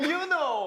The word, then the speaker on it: Yunho: This is how they pronounce their names. Hi, my name is Seonghwa. My name is Hongjoong. I'm Yunho.